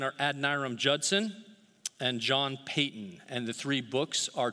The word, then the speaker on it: Paton: of you that like saying why is he pronouncing john payton so funny it's actually payton not patton i love john piper wonderful brother he has